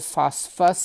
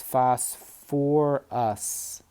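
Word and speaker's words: phosphorous: fast you might say well is it fast Fuss acid actually you keep the second syllable for phosphorus so it's fast for us acid phosphate peel 4-3 add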